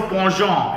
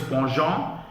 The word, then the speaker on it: penchant: the correct pronunciation is ponjon he has a ponjon for spicy food we have done this in class words like rendezvous and bonjour which have very different foreign kind of pronunciations because they've been taken